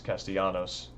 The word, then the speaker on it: Castellanos: It's Castellanos. I think they actually use that pronunciation in here a few times as well.